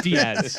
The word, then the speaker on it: Diaz: for example there's like players that have very obviously hispanic-sounding names but choose to not pronounce it that way and i'm like listen guy pronunciation guide here davey lopes yeah davey lopes matt diaz looking right at you it's diaz okay let me tell you